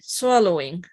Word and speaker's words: swallowing: Making stress pronunciation into this A. Swallowing.